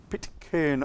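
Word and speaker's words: Pitcairn: it's spelt p-i-t-c-i-r-n so we would say pit can but when you speak to a pit kern islander they call it pit kern so i've caught a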